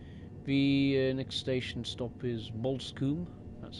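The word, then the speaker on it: Bosham: The next station stop is Bolskum.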